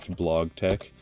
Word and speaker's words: BlogTeX: it inside of Docker blog Tech that's the official pronunciation pronunciation for you guys out there and um